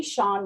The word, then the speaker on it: Sean: It's Sean rhymes with barn, like ham and man, you know, like the Queen.